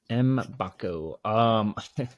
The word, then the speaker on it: Mbako: I mean, we've clarified his last name is pronounced Mbako. We kind of butchered that the last pod, but we won't do that again moving forward. Mbako.